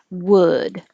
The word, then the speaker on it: would: put the symbol here would so this is uh like good it's very similar to ooh like who but ooh your lips are